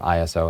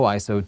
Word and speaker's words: ISO: your pictures is is ISO it's it is pronounced ISO it's not ISO and if you uh want more information about